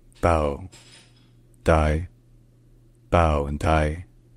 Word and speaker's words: Bảo Đại: French domination in the Vietnamese this name is pronounced bow die bow and die bow die bow and die all right if you enjoy